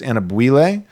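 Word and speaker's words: Anyabwile: I always call him Anabwile, but I'm pretty sure it's pronounced Anabwile.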